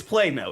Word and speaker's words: Plano: Hey, we got Texans pronouncing it Plano and Plano. Which is it? It's Plano. It's Plano.